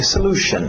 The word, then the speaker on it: Solution: Cuidado com a pronúncia aqui. Solution. Okay? Solution. Geralmente esse S acaba entrando no L.